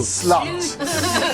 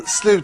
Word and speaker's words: slut: you see this everywhere it's not slot it means the end and slute St it's not pronounced slot station it's not a meeting up place for promiscuous women it's just the end of the bus line you know yeah so let's